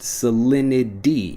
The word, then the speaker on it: salinity: When I'm pronouncing it fast, salinity. Even though, again, we have that T sound, salinity becomes salinity when we're pronouncing it quickly.